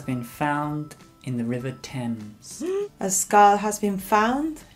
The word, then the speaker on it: Thames: a skull has been found in the River Thames a skull has been found in the river turns perfect okay see an defroster tom hasta las